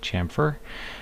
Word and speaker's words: chamfer: vertices it's like a bevel and it is pronounced chamfer and then the rest of these we're not